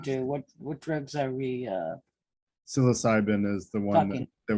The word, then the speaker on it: psilocybin: I did post an article that refers to studies on microdosing psilocybin. I can't pronounce it.